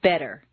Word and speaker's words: better: the T and listen the Double T in better is pronounced d better any other pronunciation will